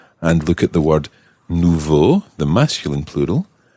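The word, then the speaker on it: nouveaux: Nouveau the masculine plural and that actually ends in an X nouveau nouveau no Nouveau in the singular is spelled n-o-u-v-e-a-u and in the plural exactly the same but with an x on the end n o u v e a u x but it sounds exactly like the singular nouveau so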